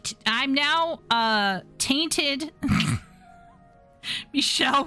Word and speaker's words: Michel: In French it is said as Michelle. Yes, ch in French is pronounced as essay. Michelle Michelle.